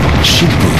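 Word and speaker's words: Shinpū: Shinbu is a more formal way to pronounce the two characters that spell kamikaze.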